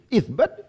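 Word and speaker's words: إثبات: Gak boleh, isbat dibaca asbat itu gak boleh. Isbat itu masdar. Nggak ada bacaan yang lain kecuali isbat.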